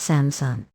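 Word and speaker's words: 삼성: them very serious no three stars is pronounced samsung the same as Samsung think I have heard of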